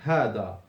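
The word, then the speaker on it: هذا: wahidun, hada, number one, hada. So you write down hada. You remember that there is no alif between the ha and the dal, although you pronounce it.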